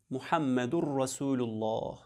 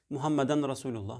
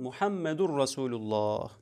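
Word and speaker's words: Muhammedün Resulullah: parçası ki laf sana şöyle söylenir muhammedurrasulullah muhammeden resulullah Muhammed'in Rasulullah söylüyorlar yanlıştır bu doğru telaffuz etmek lazım muhammedurrasulullah Bunun manası nedir Ahirzaman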